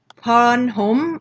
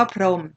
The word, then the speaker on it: พรม: ปรารถนา พรม นะ คะ เรา ก็ ไม่ อ่าน ปรา รา รถ นา พร ห่ม อะไร นี้ ใช่ แล้ว ก็ อ่าน ว่า ปรารถนา หรือ คำ ว่า พรม เนาะ หอ หรือ ออ